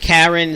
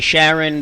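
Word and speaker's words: Charon: eyes because when uh some people pronounce it Karen some people say Sharon but the uh the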